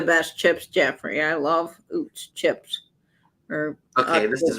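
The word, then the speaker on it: Utz: the uh I printed I heard it's pronounced OOTS because it was a German company they make potato chips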